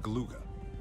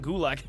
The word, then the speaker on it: Galuga: We've confirmed reports they've set up shop on the main island of Galuga, following the meteor event earlier this year. Oh, Galuga. I've been saying Gulag. I've been saying it wrong this whole time.